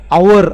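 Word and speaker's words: hour: आधीचा आर्टिकल तुम्हाला विचारतील आवर त याच्यामध्ये तुम्ही बघाल स्पेलिंग एच पासन सुरू होतोय पण तो एच सायलेंट आहे म्हणजे त्याच जे प्रोनन्सशन आहे ते आवर असं होतं म्हणजे इट स्टार्टिंग विथ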